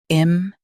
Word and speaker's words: impute: Impute. Stress pew and keep it clear.